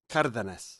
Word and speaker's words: Cardenas: No, it's Cardenas? it's Carnitas. No, not even close. Mmm. I'm gonna give you the super authentic pronunciation just one time, but don't ever use it because it's dumb. It's Cardenas. Somebody put that in geez.